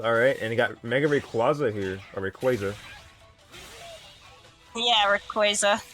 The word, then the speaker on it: Rayquaza: It's based on the term Quasar.